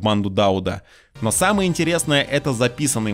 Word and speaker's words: Дауд: а главарем банды был дауд да друзья именно дауд локализация локализации но ставить ударение в его имени на у просто потому что так решили пацаны став club я не